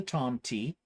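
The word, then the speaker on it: tomte: that um it's called the Tom T yes I am saying that correctly because she verified it uh for me that that's how you say it um basically it's a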